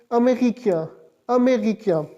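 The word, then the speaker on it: américain: AME right side tilted apostrophe RICAIN, इसको किस तरह प्रोनाउंस करेगी? अमेरिकिया।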